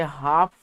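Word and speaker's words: half: तो इसमें जो है आपका यह जो हाफ लिखा है इसे हाफ पढ़ते हैं। हाफ पढ़ते हैं। इसका एल साइलेंट हो जाता है।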